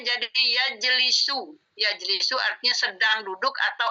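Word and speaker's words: يجلس: Masuk ke sini bacanya jadi yajlisu.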